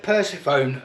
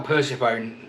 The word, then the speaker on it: Persephone: pronounce the name, it's Persephone to War. What the hell Persephone, where that come from I do not know. You know, I mean, there's no phones in it at all. But Persephone to War is this one that I've got here.